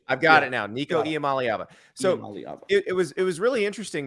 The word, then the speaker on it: Iamaleava: Nico himself told me how to pronounce it. Maliava. Nico Iamaleava. I've got it now. Nico Iamaleava.